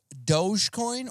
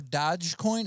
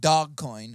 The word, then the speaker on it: Dogecoin: do you pronounce it it's either it's either dogecoin or dodgecoin it's not dog coin it's like i like calling it i think it's doge i think it's dogecoin but we'll call it dog